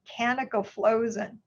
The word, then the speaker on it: canagliflozin: But the first one to come out in the market is canagliflozin. And when people were teaching me about it, they said, think of Canada's frozen, canagliflozin.